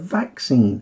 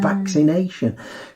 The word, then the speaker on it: vaccine: up was to highlight the pronunciation of vaccine and vaccination because i've heard people struggling with that same vaccine and vaccination rather than vaccine and vaccination the dreaded double c nice did you